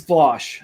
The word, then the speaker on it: Vaush: It's Vosh, but for some reason, people who don't like him, there's like a meme that they always call him Vaush. Yeah, so it's spelled Vaush.